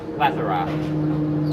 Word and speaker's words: plethora: that answer your question a word man it's pronounced plethora chill out rachel holland if you want to